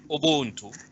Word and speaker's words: ubuntu: describes described as an african philosophy in israel pronounced as ubuntu is meaning humanity uh it is often translated